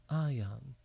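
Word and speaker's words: Ahyahn: My spiritual name seemingly is Ayan, A-H-Y-A-H-N. That's how I see it in my mind phonetically, Ayan.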